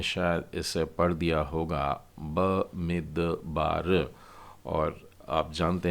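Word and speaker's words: בְּמִדְבַּר: तो ब मी द अब शवा बीच में डला है तो आप द को छोटा करके बोलेंगे और उसके बाद में बेत है आ की मात्रा के साथ और फिर रेश तो इसको उच्चारण हो जाएगा बे मेद बार बे मेद बार ये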